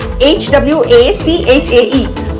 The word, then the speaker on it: Hwachae: So Hwachae. Hwachae. This is the pronunciation.